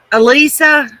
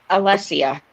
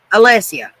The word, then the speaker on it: Alessia: Elisa, is that how you pronounce it? Alessia. Alessia.